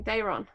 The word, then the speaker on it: Daemon: All hail King Daemon. Get the middle syllable right.